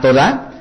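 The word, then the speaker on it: תודה: gracias se va a todá con h al final y tal cual escuchan toda este o de ahh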